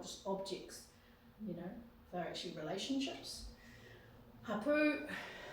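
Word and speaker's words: hapū: Hapu, the emphasis is on the second syllable with the macron on the top.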